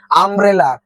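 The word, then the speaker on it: umbrella: orange উচ্চারণে ও উচ্চারণ আছে তাই এন হলো আমব্রেলা আমব্রেলায় কিন্তু ইউর উচ্চারণ আসছে না দেখো এখানে ইউর উচ্চারণ ইউ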